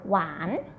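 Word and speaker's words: หวาน: "Wan mu," the word "wan," "wan" with the rising tone. "Wan" means sweet. Do not confuse with the word "wan," which mean day.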